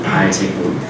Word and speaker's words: 바알세불: 바알세불이 원래는요, 발음이 바알제북이라고 이렇게 불렸다는 거예요. 바알제북.